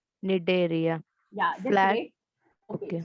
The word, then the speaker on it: Cnidaria: That C is silent, so you're supposed to pronounce it as Cnidaria. Cnidaria.